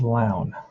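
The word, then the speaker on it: Lown: is uh oh no turquoise rhymes with town so it's loud just like i pronounced it wow getting good so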